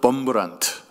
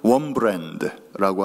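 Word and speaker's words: Wurmbrand: 잘 아시는 이야기입니다마는 리차드 범브란트, 영어식 발음으로는 리처드 원브랜드라고 하는 목사님이 계십니다.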